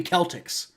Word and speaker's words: Celtics: sure but they also pronounce their name wrong it should be Celtics you know that should